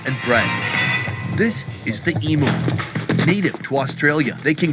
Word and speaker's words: emu: well over 100 lb am I going to get away with saying emo no how do you say